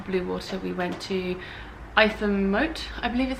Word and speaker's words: Ightham: And then we went to after Blue Water we went to Itham-Mote, I believe is how it's pronounced, but it's spelt IGHTHAM or something.